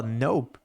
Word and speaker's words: nope: uma frase para reforçar se você fala no desse jeito aqui já mostra que é uma resposta curta e na escrita é representado assim no e o p é mudo mesmo letra muda de verdade então se você olha